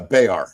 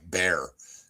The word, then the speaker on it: Bexar: So, a lot of a lot of people pronounce it like bear and they'll just kind of like slough over it a little bit.